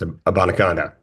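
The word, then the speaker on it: Abanikanda: from the Jets you nailed it actually it's a bonaca okay perfect nailed it you just call him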